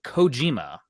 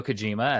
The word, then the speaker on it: Kojima: stranding 2 announcement uh hideo coima or hideo Kojima as some pronounce it uh his studio is